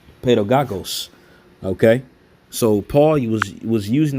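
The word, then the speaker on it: παιδαγωγός: OK, and as that word is in the Greek, again, it's pronounced pedagogos.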